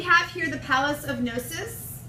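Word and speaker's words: Knossos: So we have here the Palace of Gnosis. Don't pronounce the K.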